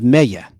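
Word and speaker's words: Mellé: But that music was scored by Gil, Gil Melle. The Spanish pronunciation is Mella.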